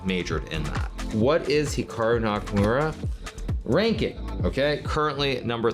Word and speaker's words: Hikaru: pronounce Hikaru nak now even myself when I pronounce my name it's definitely more Americanized versus Japanese certainly if I was pronouncing it correctly it would be more like Hikaru as opposed to Hikaru but I've spent so